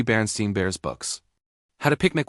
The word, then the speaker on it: Berenstain: She remembered the name clearly because as a child, she had mispronounced it, and her mother corrected her repeatedly, emphasizing the stain sound. Berenstain Bears, not Berenstain.